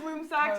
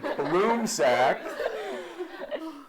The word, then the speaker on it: Blumsack: That is Sam Bloomsack. This is John DePasquale saying that's Sam Bloomsack.